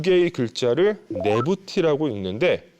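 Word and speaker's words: Nebty: 이 두 개의 글자를 네부티라고 읽는데 두 여주인이라는 뜻입니다.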